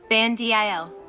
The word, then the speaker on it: Bandil: Bandil. R. 59. Kan is pronounced aloud. Dil is pronounced with a low voice. 60. Ban is pronounced aloud. Dil is pronounced with a low voice.